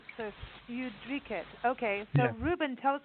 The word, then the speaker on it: Ljudriket: Studio Ljudriket.